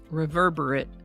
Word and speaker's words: reverberate: As an adjective, it's typically pronounced a little differently, reverberate, and it means tending to reverberate, having the quality of reverberating or marked by reverberation.